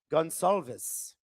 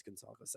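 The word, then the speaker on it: Gonçalves: Uh Heather the Ashfan says, "My Portuguese friend pronounces it Gonalves." I know it's Gonzalz. I just have a pronunciation issue with it.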